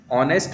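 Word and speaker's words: honest: he poor but blank ऑनेस्ट मैन तो ऑनेस्ट का उच्चारण हम करते हैं ओ ऑनेस्ट जो जो कि ओ से शुरू हो रहा है हिंदी के स्वर से इसलिए य आएगा एन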